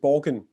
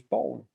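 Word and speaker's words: Borgen: uh um and it I think you pronounce it Borggan in in in the UK, right? And I thought maybe he had seen that one. So he says, "Oh, you've written about Luc and Pug. What you what you're going to write about next?" And and I say, "Well done on pronouncing Danish. You must have been watching a lot of Danish bone." Which is how we pronounce it.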